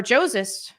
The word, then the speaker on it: Joses: salvation also no worries my name is pronounced like Moses but with a J got it putting or joses putting on a show